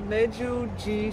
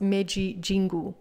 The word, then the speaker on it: Meiji Jingu: All right, so we are at the Meiji Jingu Shrine. Actually, you tell it because I'm way too tired. Well, you said it pretty correct. We're at the Meiji Jingu, I think.